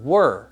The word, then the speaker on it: were: So were, 2 sounds with a silent letter at the very end.